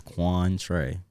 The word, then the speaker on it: Quantre: kindle bro what like it's it's literally two syllables can do yeah just like mine's juan trey and then i went to um what happened